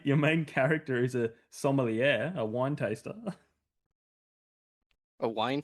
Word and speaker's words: sommelier: your main character is a sommelier, a wine taster.